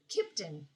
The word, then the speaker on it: Kimpton: There's an M in it. Is that how you say it? Kimpton or Kimpton? Kipton. Kipton. I skip the M.